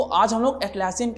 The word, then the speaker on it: Atlassian: ठीक है, तो वो कंपनी है नन अदर देन एटलासियन। ठीक है, अब हो सकता है मेरा प्रोनाउंसिएशन थोड़ा सा अलग हो, कुछ लोग इसको अटलासियन भी बोलते हैं, कुछ लोग एटलासियन भी बोलते हैं, तो यार वहां